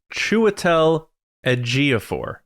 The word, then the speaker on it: Chiwetel Ejiofor: So it's Chiwetel Ejiofor. That is how you pronounce it.